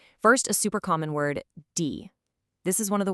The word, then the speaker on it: die: Now, whenever you see this one, I want you to think of a long E sound, just like in the English word see or be. It's not a short I sound, okay? It's a nice, long, drawn-out E.